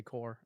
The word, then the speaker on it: Corps: Yeah, I guess you do say core.